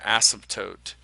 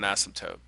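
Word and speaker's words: asymptote: it or cross it we call that an ASM toote I'll spell that so uh ASM toote A s y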